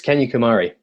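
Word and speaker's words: Kanyakumari: very very southern tip it's um can you pronounce it for us where you end your journey uh it's kenya kumari yeah that's the very southern tip where where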